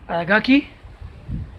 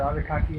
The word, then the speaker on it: Aragaki: Aragaki is pronounced Aragaki. Seisho Aragaki. Aragaki or Arakaki, it's the same.